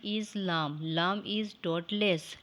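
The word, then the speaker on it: لام: lamb lamb is dotless lamb is a light sound and long letter but sometimes heavy it is pronounced when the rounded tip of the tongue touching the back gums of the frontal a teeth you can read after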